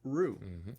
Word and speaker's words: roux: So they developed this stuff out of flour and grease called roux. It is spelled R-O-U-X.